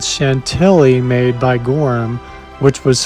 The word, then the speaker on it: Chantilly: I would also like to apologize for not pronouncing the word Chantilly properly in France, which would be Chantilly.